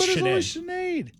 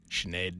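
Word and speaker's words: Sinéad: Saturday Night Live nice did anybody know how to pronounce her name before she became famous s SED is it no it looks like but chenade chenade the Irish have like just great spelling riffs for names all right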